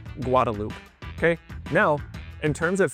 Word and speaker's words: Guadalupe: Anyone else who does not live in Austin or is not from here would pronounce it Guadalupe. However, we call it Guadaloop.